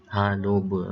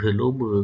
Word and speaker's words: haloba: Haloba. Nampak dekat ha tu tidak ada alif. Dia terus langsung ejakan menghuruf lam. Haloba. Tapi bacanya tetap ha. Tak dibaca heloba kan.